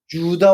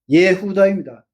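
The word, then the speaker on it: יהודה: 그것을 우리가 유다 왕국이라고 하죠. 엘라식 발음으로 엘라식 용어로. 근데 히브리어로는 유다라는게 없습니다. 예후다입니다. 가론 유다가 아니고 이스카리 예후다입니다.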